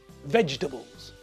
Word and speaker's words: vegetables: when I say it vegetables can you hear it's only got three syllables veg the Bulls so vegetables is not pronounced vegetable but vegetables so vegetables has got three syllables not for some Hungarian